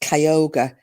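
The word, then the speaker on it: Cuyahoga: It's pronounced C, sorry, it's spelled C U Y A H O G A and it was pronounced Kyogre. Kyogre County.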